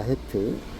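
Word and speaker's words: חית: 헤트. 영어 N자처럼 생겼죠. 헤트라고 읽습니다.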